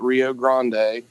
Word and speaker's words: Rio Grande: which here in Appalachia, we wanted to take Rio Grande and pronounce it our own way. So that's how it's spelled, and for some reason we call it Rio Grande.